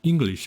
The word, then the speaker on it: English: 예를 들어서 영어를 한국식으로 발음하면은 English라고 해요. 네 글자고 4음절이에요. 근데 영어에서는 in까지 끊고 글리시를 한 음절로 발음해서 English 해서 두 음절 안에 끝내야 돼요.